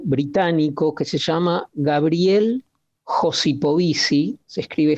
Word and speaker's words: Josipovici: es un académico británico que se llama Gabriel josipovici se escribe J o s i p o b